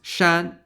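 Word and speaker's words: 山: For example, mountain is pronounced shan in Chinese.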